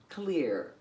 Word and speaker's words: Claire: She pronounces her name and would prefer people called her Clear, because that's the way she wants to be from now on, is Clear.